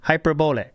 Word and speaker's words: hyperbole: It's the correct pronunciation is hyperbole. That's correct. Hyperbole. Obviously. Well, no, and again, this is it's like guacamole. It rhymes with guacamole.